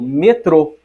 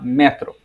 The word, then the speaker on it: metrô: mas a pronúncia diferente vou falar por exemplo eu falo metrô um hispano-falante vai falar metro eu vou falar pandemia